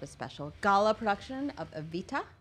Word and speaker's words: Evita: Also, they will offer up a special gala production of Evita. I like to say it like that because that's how Patti LuPone says it, with the T.